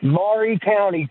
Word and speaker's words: Maury County: It is Maury County. It is not Murray County. If you Google Murray County, Tennessee, Maury County pulls up. It is not Murray Povich, it's Maury Povich. So it's Maury County.